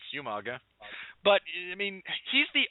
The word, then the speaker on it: Umaga: William Regal, for months, pronounced it as Umanga because with the spelling in the in traditional Samoan, that's the correct pronunciation. But no, it's Umaga.